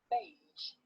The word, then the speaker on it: beige: get confused with ger it's pronounced pleasure and vision and at the end of the word beige now you try listen and